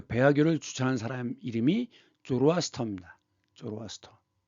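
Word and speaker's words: Zoroaster: 쪼로아스터. 조로아스터. 이것이 이제 그 독일식 발음으로는 자라투스트라고 얘기합니다.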